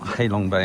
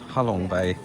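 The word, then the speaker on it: Ha Long Bay: Well, it's not Halong Bay. I'm sorry. It's Halong Bay.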